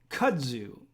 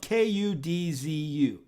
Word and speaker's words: kudzu: And kudzu is something that grows, rampant where we live.